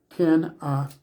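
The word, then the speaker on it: Canaan: the land of Canan the term Canan if you break it down it's Canan with the emphasis on the final syllable Canan comes from the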